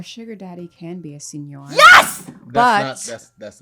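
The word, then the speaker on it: seigneur: oh no you good senior senior how many chances do i get until you say final answer senior final answer it's senor i i feel like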